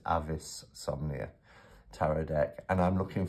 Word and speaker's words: Avisomnia: my offer to review Avis some near sorry Avis avisomnia my uh pronunciation of things the Latin is Avis somnia Tarot deck and I'm